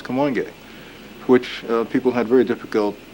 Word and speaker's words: Kamoinge: so we decided to call ourselves come on gay which people had very difficult times pronouncing and spelling but a spell ka mo ing e come on gay okay you know to